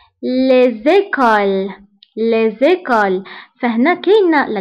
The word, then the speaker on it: les écoles: Les écoles. Les écoles. فهنا كاين la lettre S ولكن ما قريتهاش. Pourquoi? لأنه هذا non pluriel. Les écoles. المدارس. Les écoles. Donc, هاد S نتاع pluriel ما كنقراوهاش.